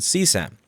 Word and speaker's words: CSAM: People familiar with the lingo seem to pronounce it CSAM.